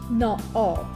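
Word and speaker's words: na-aap: Now you notice naab has 3 A's next to each other. And that is so confusing because how do you pronounce this word? Also, the preposition on top in Afrikaans is bo-op. What do? We place a hyphen between na and ab, thereby separating these vowels, and it will read easier and you'll be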